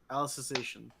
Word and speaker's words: Alicization: Alice in Wonderland. Alicization.